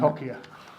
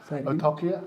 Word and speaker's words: Otokia: Otokia, Otokaya, Otokia? I've heard quite a few different ways of saying it. Otokia. Otokia. Otokia.